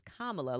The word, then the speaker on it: Kamala: No, it's Kamala, like Mamala.